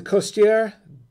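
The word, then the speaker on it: Costières: the actual bottle okay it's the costier it's pronounced okay i said it right this time that's what it's that's how it's pronounced anyway that's uh the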